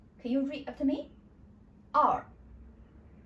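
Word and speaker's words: 二: And with a R sound in the end, which means we need to twist our tongue a little bit in the end. So we pronounce as R. R.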